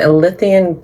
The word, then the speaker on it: Ilysian: So how do you say it again? Elysian. Elysian. ILYSIAN. Elysian Grove.